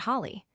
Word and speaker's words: Holly: She always told me in Katie, "There are two syllables in my name. If you don't have the time or energy to enunciate both, then you need a stress management class."